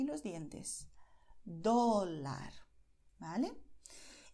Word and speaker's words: dólar: Porque cuando pronuncias dólar, para la letra D, tu lengua toca los dientes de la parte, pues, de la frente, ¿vale? Entonces, los dientes de arriba, tu lengua los toca y se queda ahí